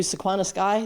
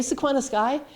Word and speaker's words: Sequana Sky: And they say, "Are you Sequana Sky?" They pronounce it right. Are you Sequana Sky?